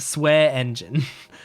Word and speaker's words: Swearingen: Oh wait, it says in her bio, which is pronounced Swear Engine. So Shelly Swear Engine.